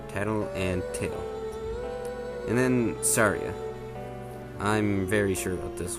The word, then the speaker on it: Saria: and tail and then saria i'm very sure about this one it's not psoriasis syria or anything else it's saturday the japanese